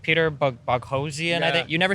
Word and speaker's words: Boghossian: I'm like, Peter Boghossian, I think. You never say your last name. Yeah, it rhymes with explosion, Boghossian explosion. Boghossian.